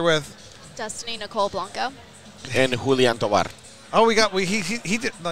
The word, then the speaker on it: Julian: Julian is the correct pronunciation.